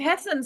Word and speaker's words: Hassan: Is that how you pronounce it? Hassan. Hassan? Yeah, Steve Hassan.